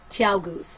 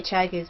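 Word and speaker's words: ChiaoGoo: Yeah, it is Chow Goose. Chow Goose. We just say Chai Goose because it's T. It's T. Okay? We just purposely mispronounce it and we don't care.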